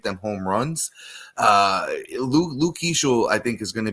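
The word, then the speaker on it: Keaschall: Uh Luke Kishel, I think, is going to be a a difference maker down the stretch.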